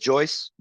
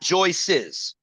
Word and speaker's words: Joyce: can and Joyce right not not Joyce's but just Joyce right it's just Joyce you pronounce Jo yeah Joyce not not joyes uh it's up to